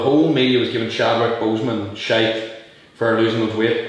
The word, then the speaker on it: Boseman: I pronounced the second name wrong, but I don't think it did. No, it's Boseman, But like Joe, prime example, punching friend, and then it was like, not an apology, not nothing.